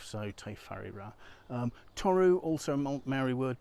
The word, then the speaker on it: Whare: the Maori language evidently if you write a wh that's pronounced as an F so take fariba toru also a merry